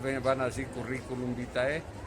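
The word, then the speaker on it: curriculum vitae: todo currículum vite que si no lo saben pronunciar bien van así currículum vítae y es carrera de la vida y carrera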